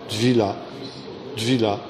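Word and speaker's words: טבילה: Dvila, ça correspond au mot baptême. Et ça s'écrit comment? Ça s'écrit comment? Ça s'écrit comment? T-V-I-L-A, Dvila.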